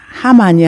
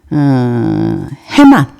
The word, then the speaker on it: 헤만: 하만이 아니고 그 누구냐? 헤만. 제가 다 발음을 잘못했어요. 헤만.